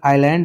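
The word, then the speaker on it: island: हुआ है उसे हम आइलैंड या द्वीप कहते हैं। आई एस लिखा है एस साइलेंट रहता है।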